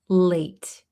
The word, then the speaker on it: late: So, here we kind of swallow this T. Excuse me. We don't pronounce it late like we don't really pronounce the strong T when we talk very quickly.